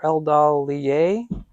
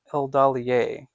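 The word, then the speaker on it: Eldalië: Or Eldalier? I think it would be Eldalier, because it has the two dots over the E.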